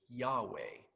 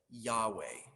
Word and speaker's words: Yahweh: bible it is a set of four consonants pronounced roughly yahweh that is the name of god why is